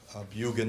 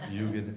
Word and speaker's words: Bugan: Bugan is how you pronounce it. I hear that's been a question around here, so Bugan it is.